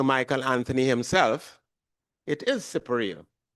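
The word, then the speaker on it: Siparia: the real pronunciation was separ. But as I found out late in life from Sir Michael Anthony himself, it is separia because it's an Amarindian word.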